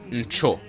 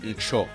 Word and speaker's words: ncho: And with lines, it's ncho. Don't let the double o fool you. It's pronounced ncho.